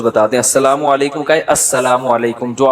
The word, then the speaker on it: السلام علیکم: میرے بھائی کا السلام علیکم اور صلی اللہ علیہ وسلم کا صحیح تلفظ بتا دیں. السلام علیکم کا ہے السلام علیکم، جو آج کل لوگوں